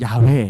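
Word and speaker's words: 야훼: 여호와 여호와 영화 야외 정확한 발음은 야외 에요 원래 정확한 발음이 자 웬 데 야외 에다가 아도나이 이라고 하는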